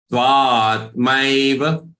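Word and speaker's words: त्वात्मैव: Okay, depending upon how you pronounce the following word. Jnani tvatmaiva me matam.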